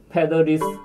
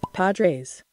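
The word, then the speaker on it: Padres: 스페인 말로 신부님이라고 읽혀지는 패더리스 뭐죠? 파드레스. 파드레스. 파드레스 이런 야구팀의 전설의 타자가 있어요.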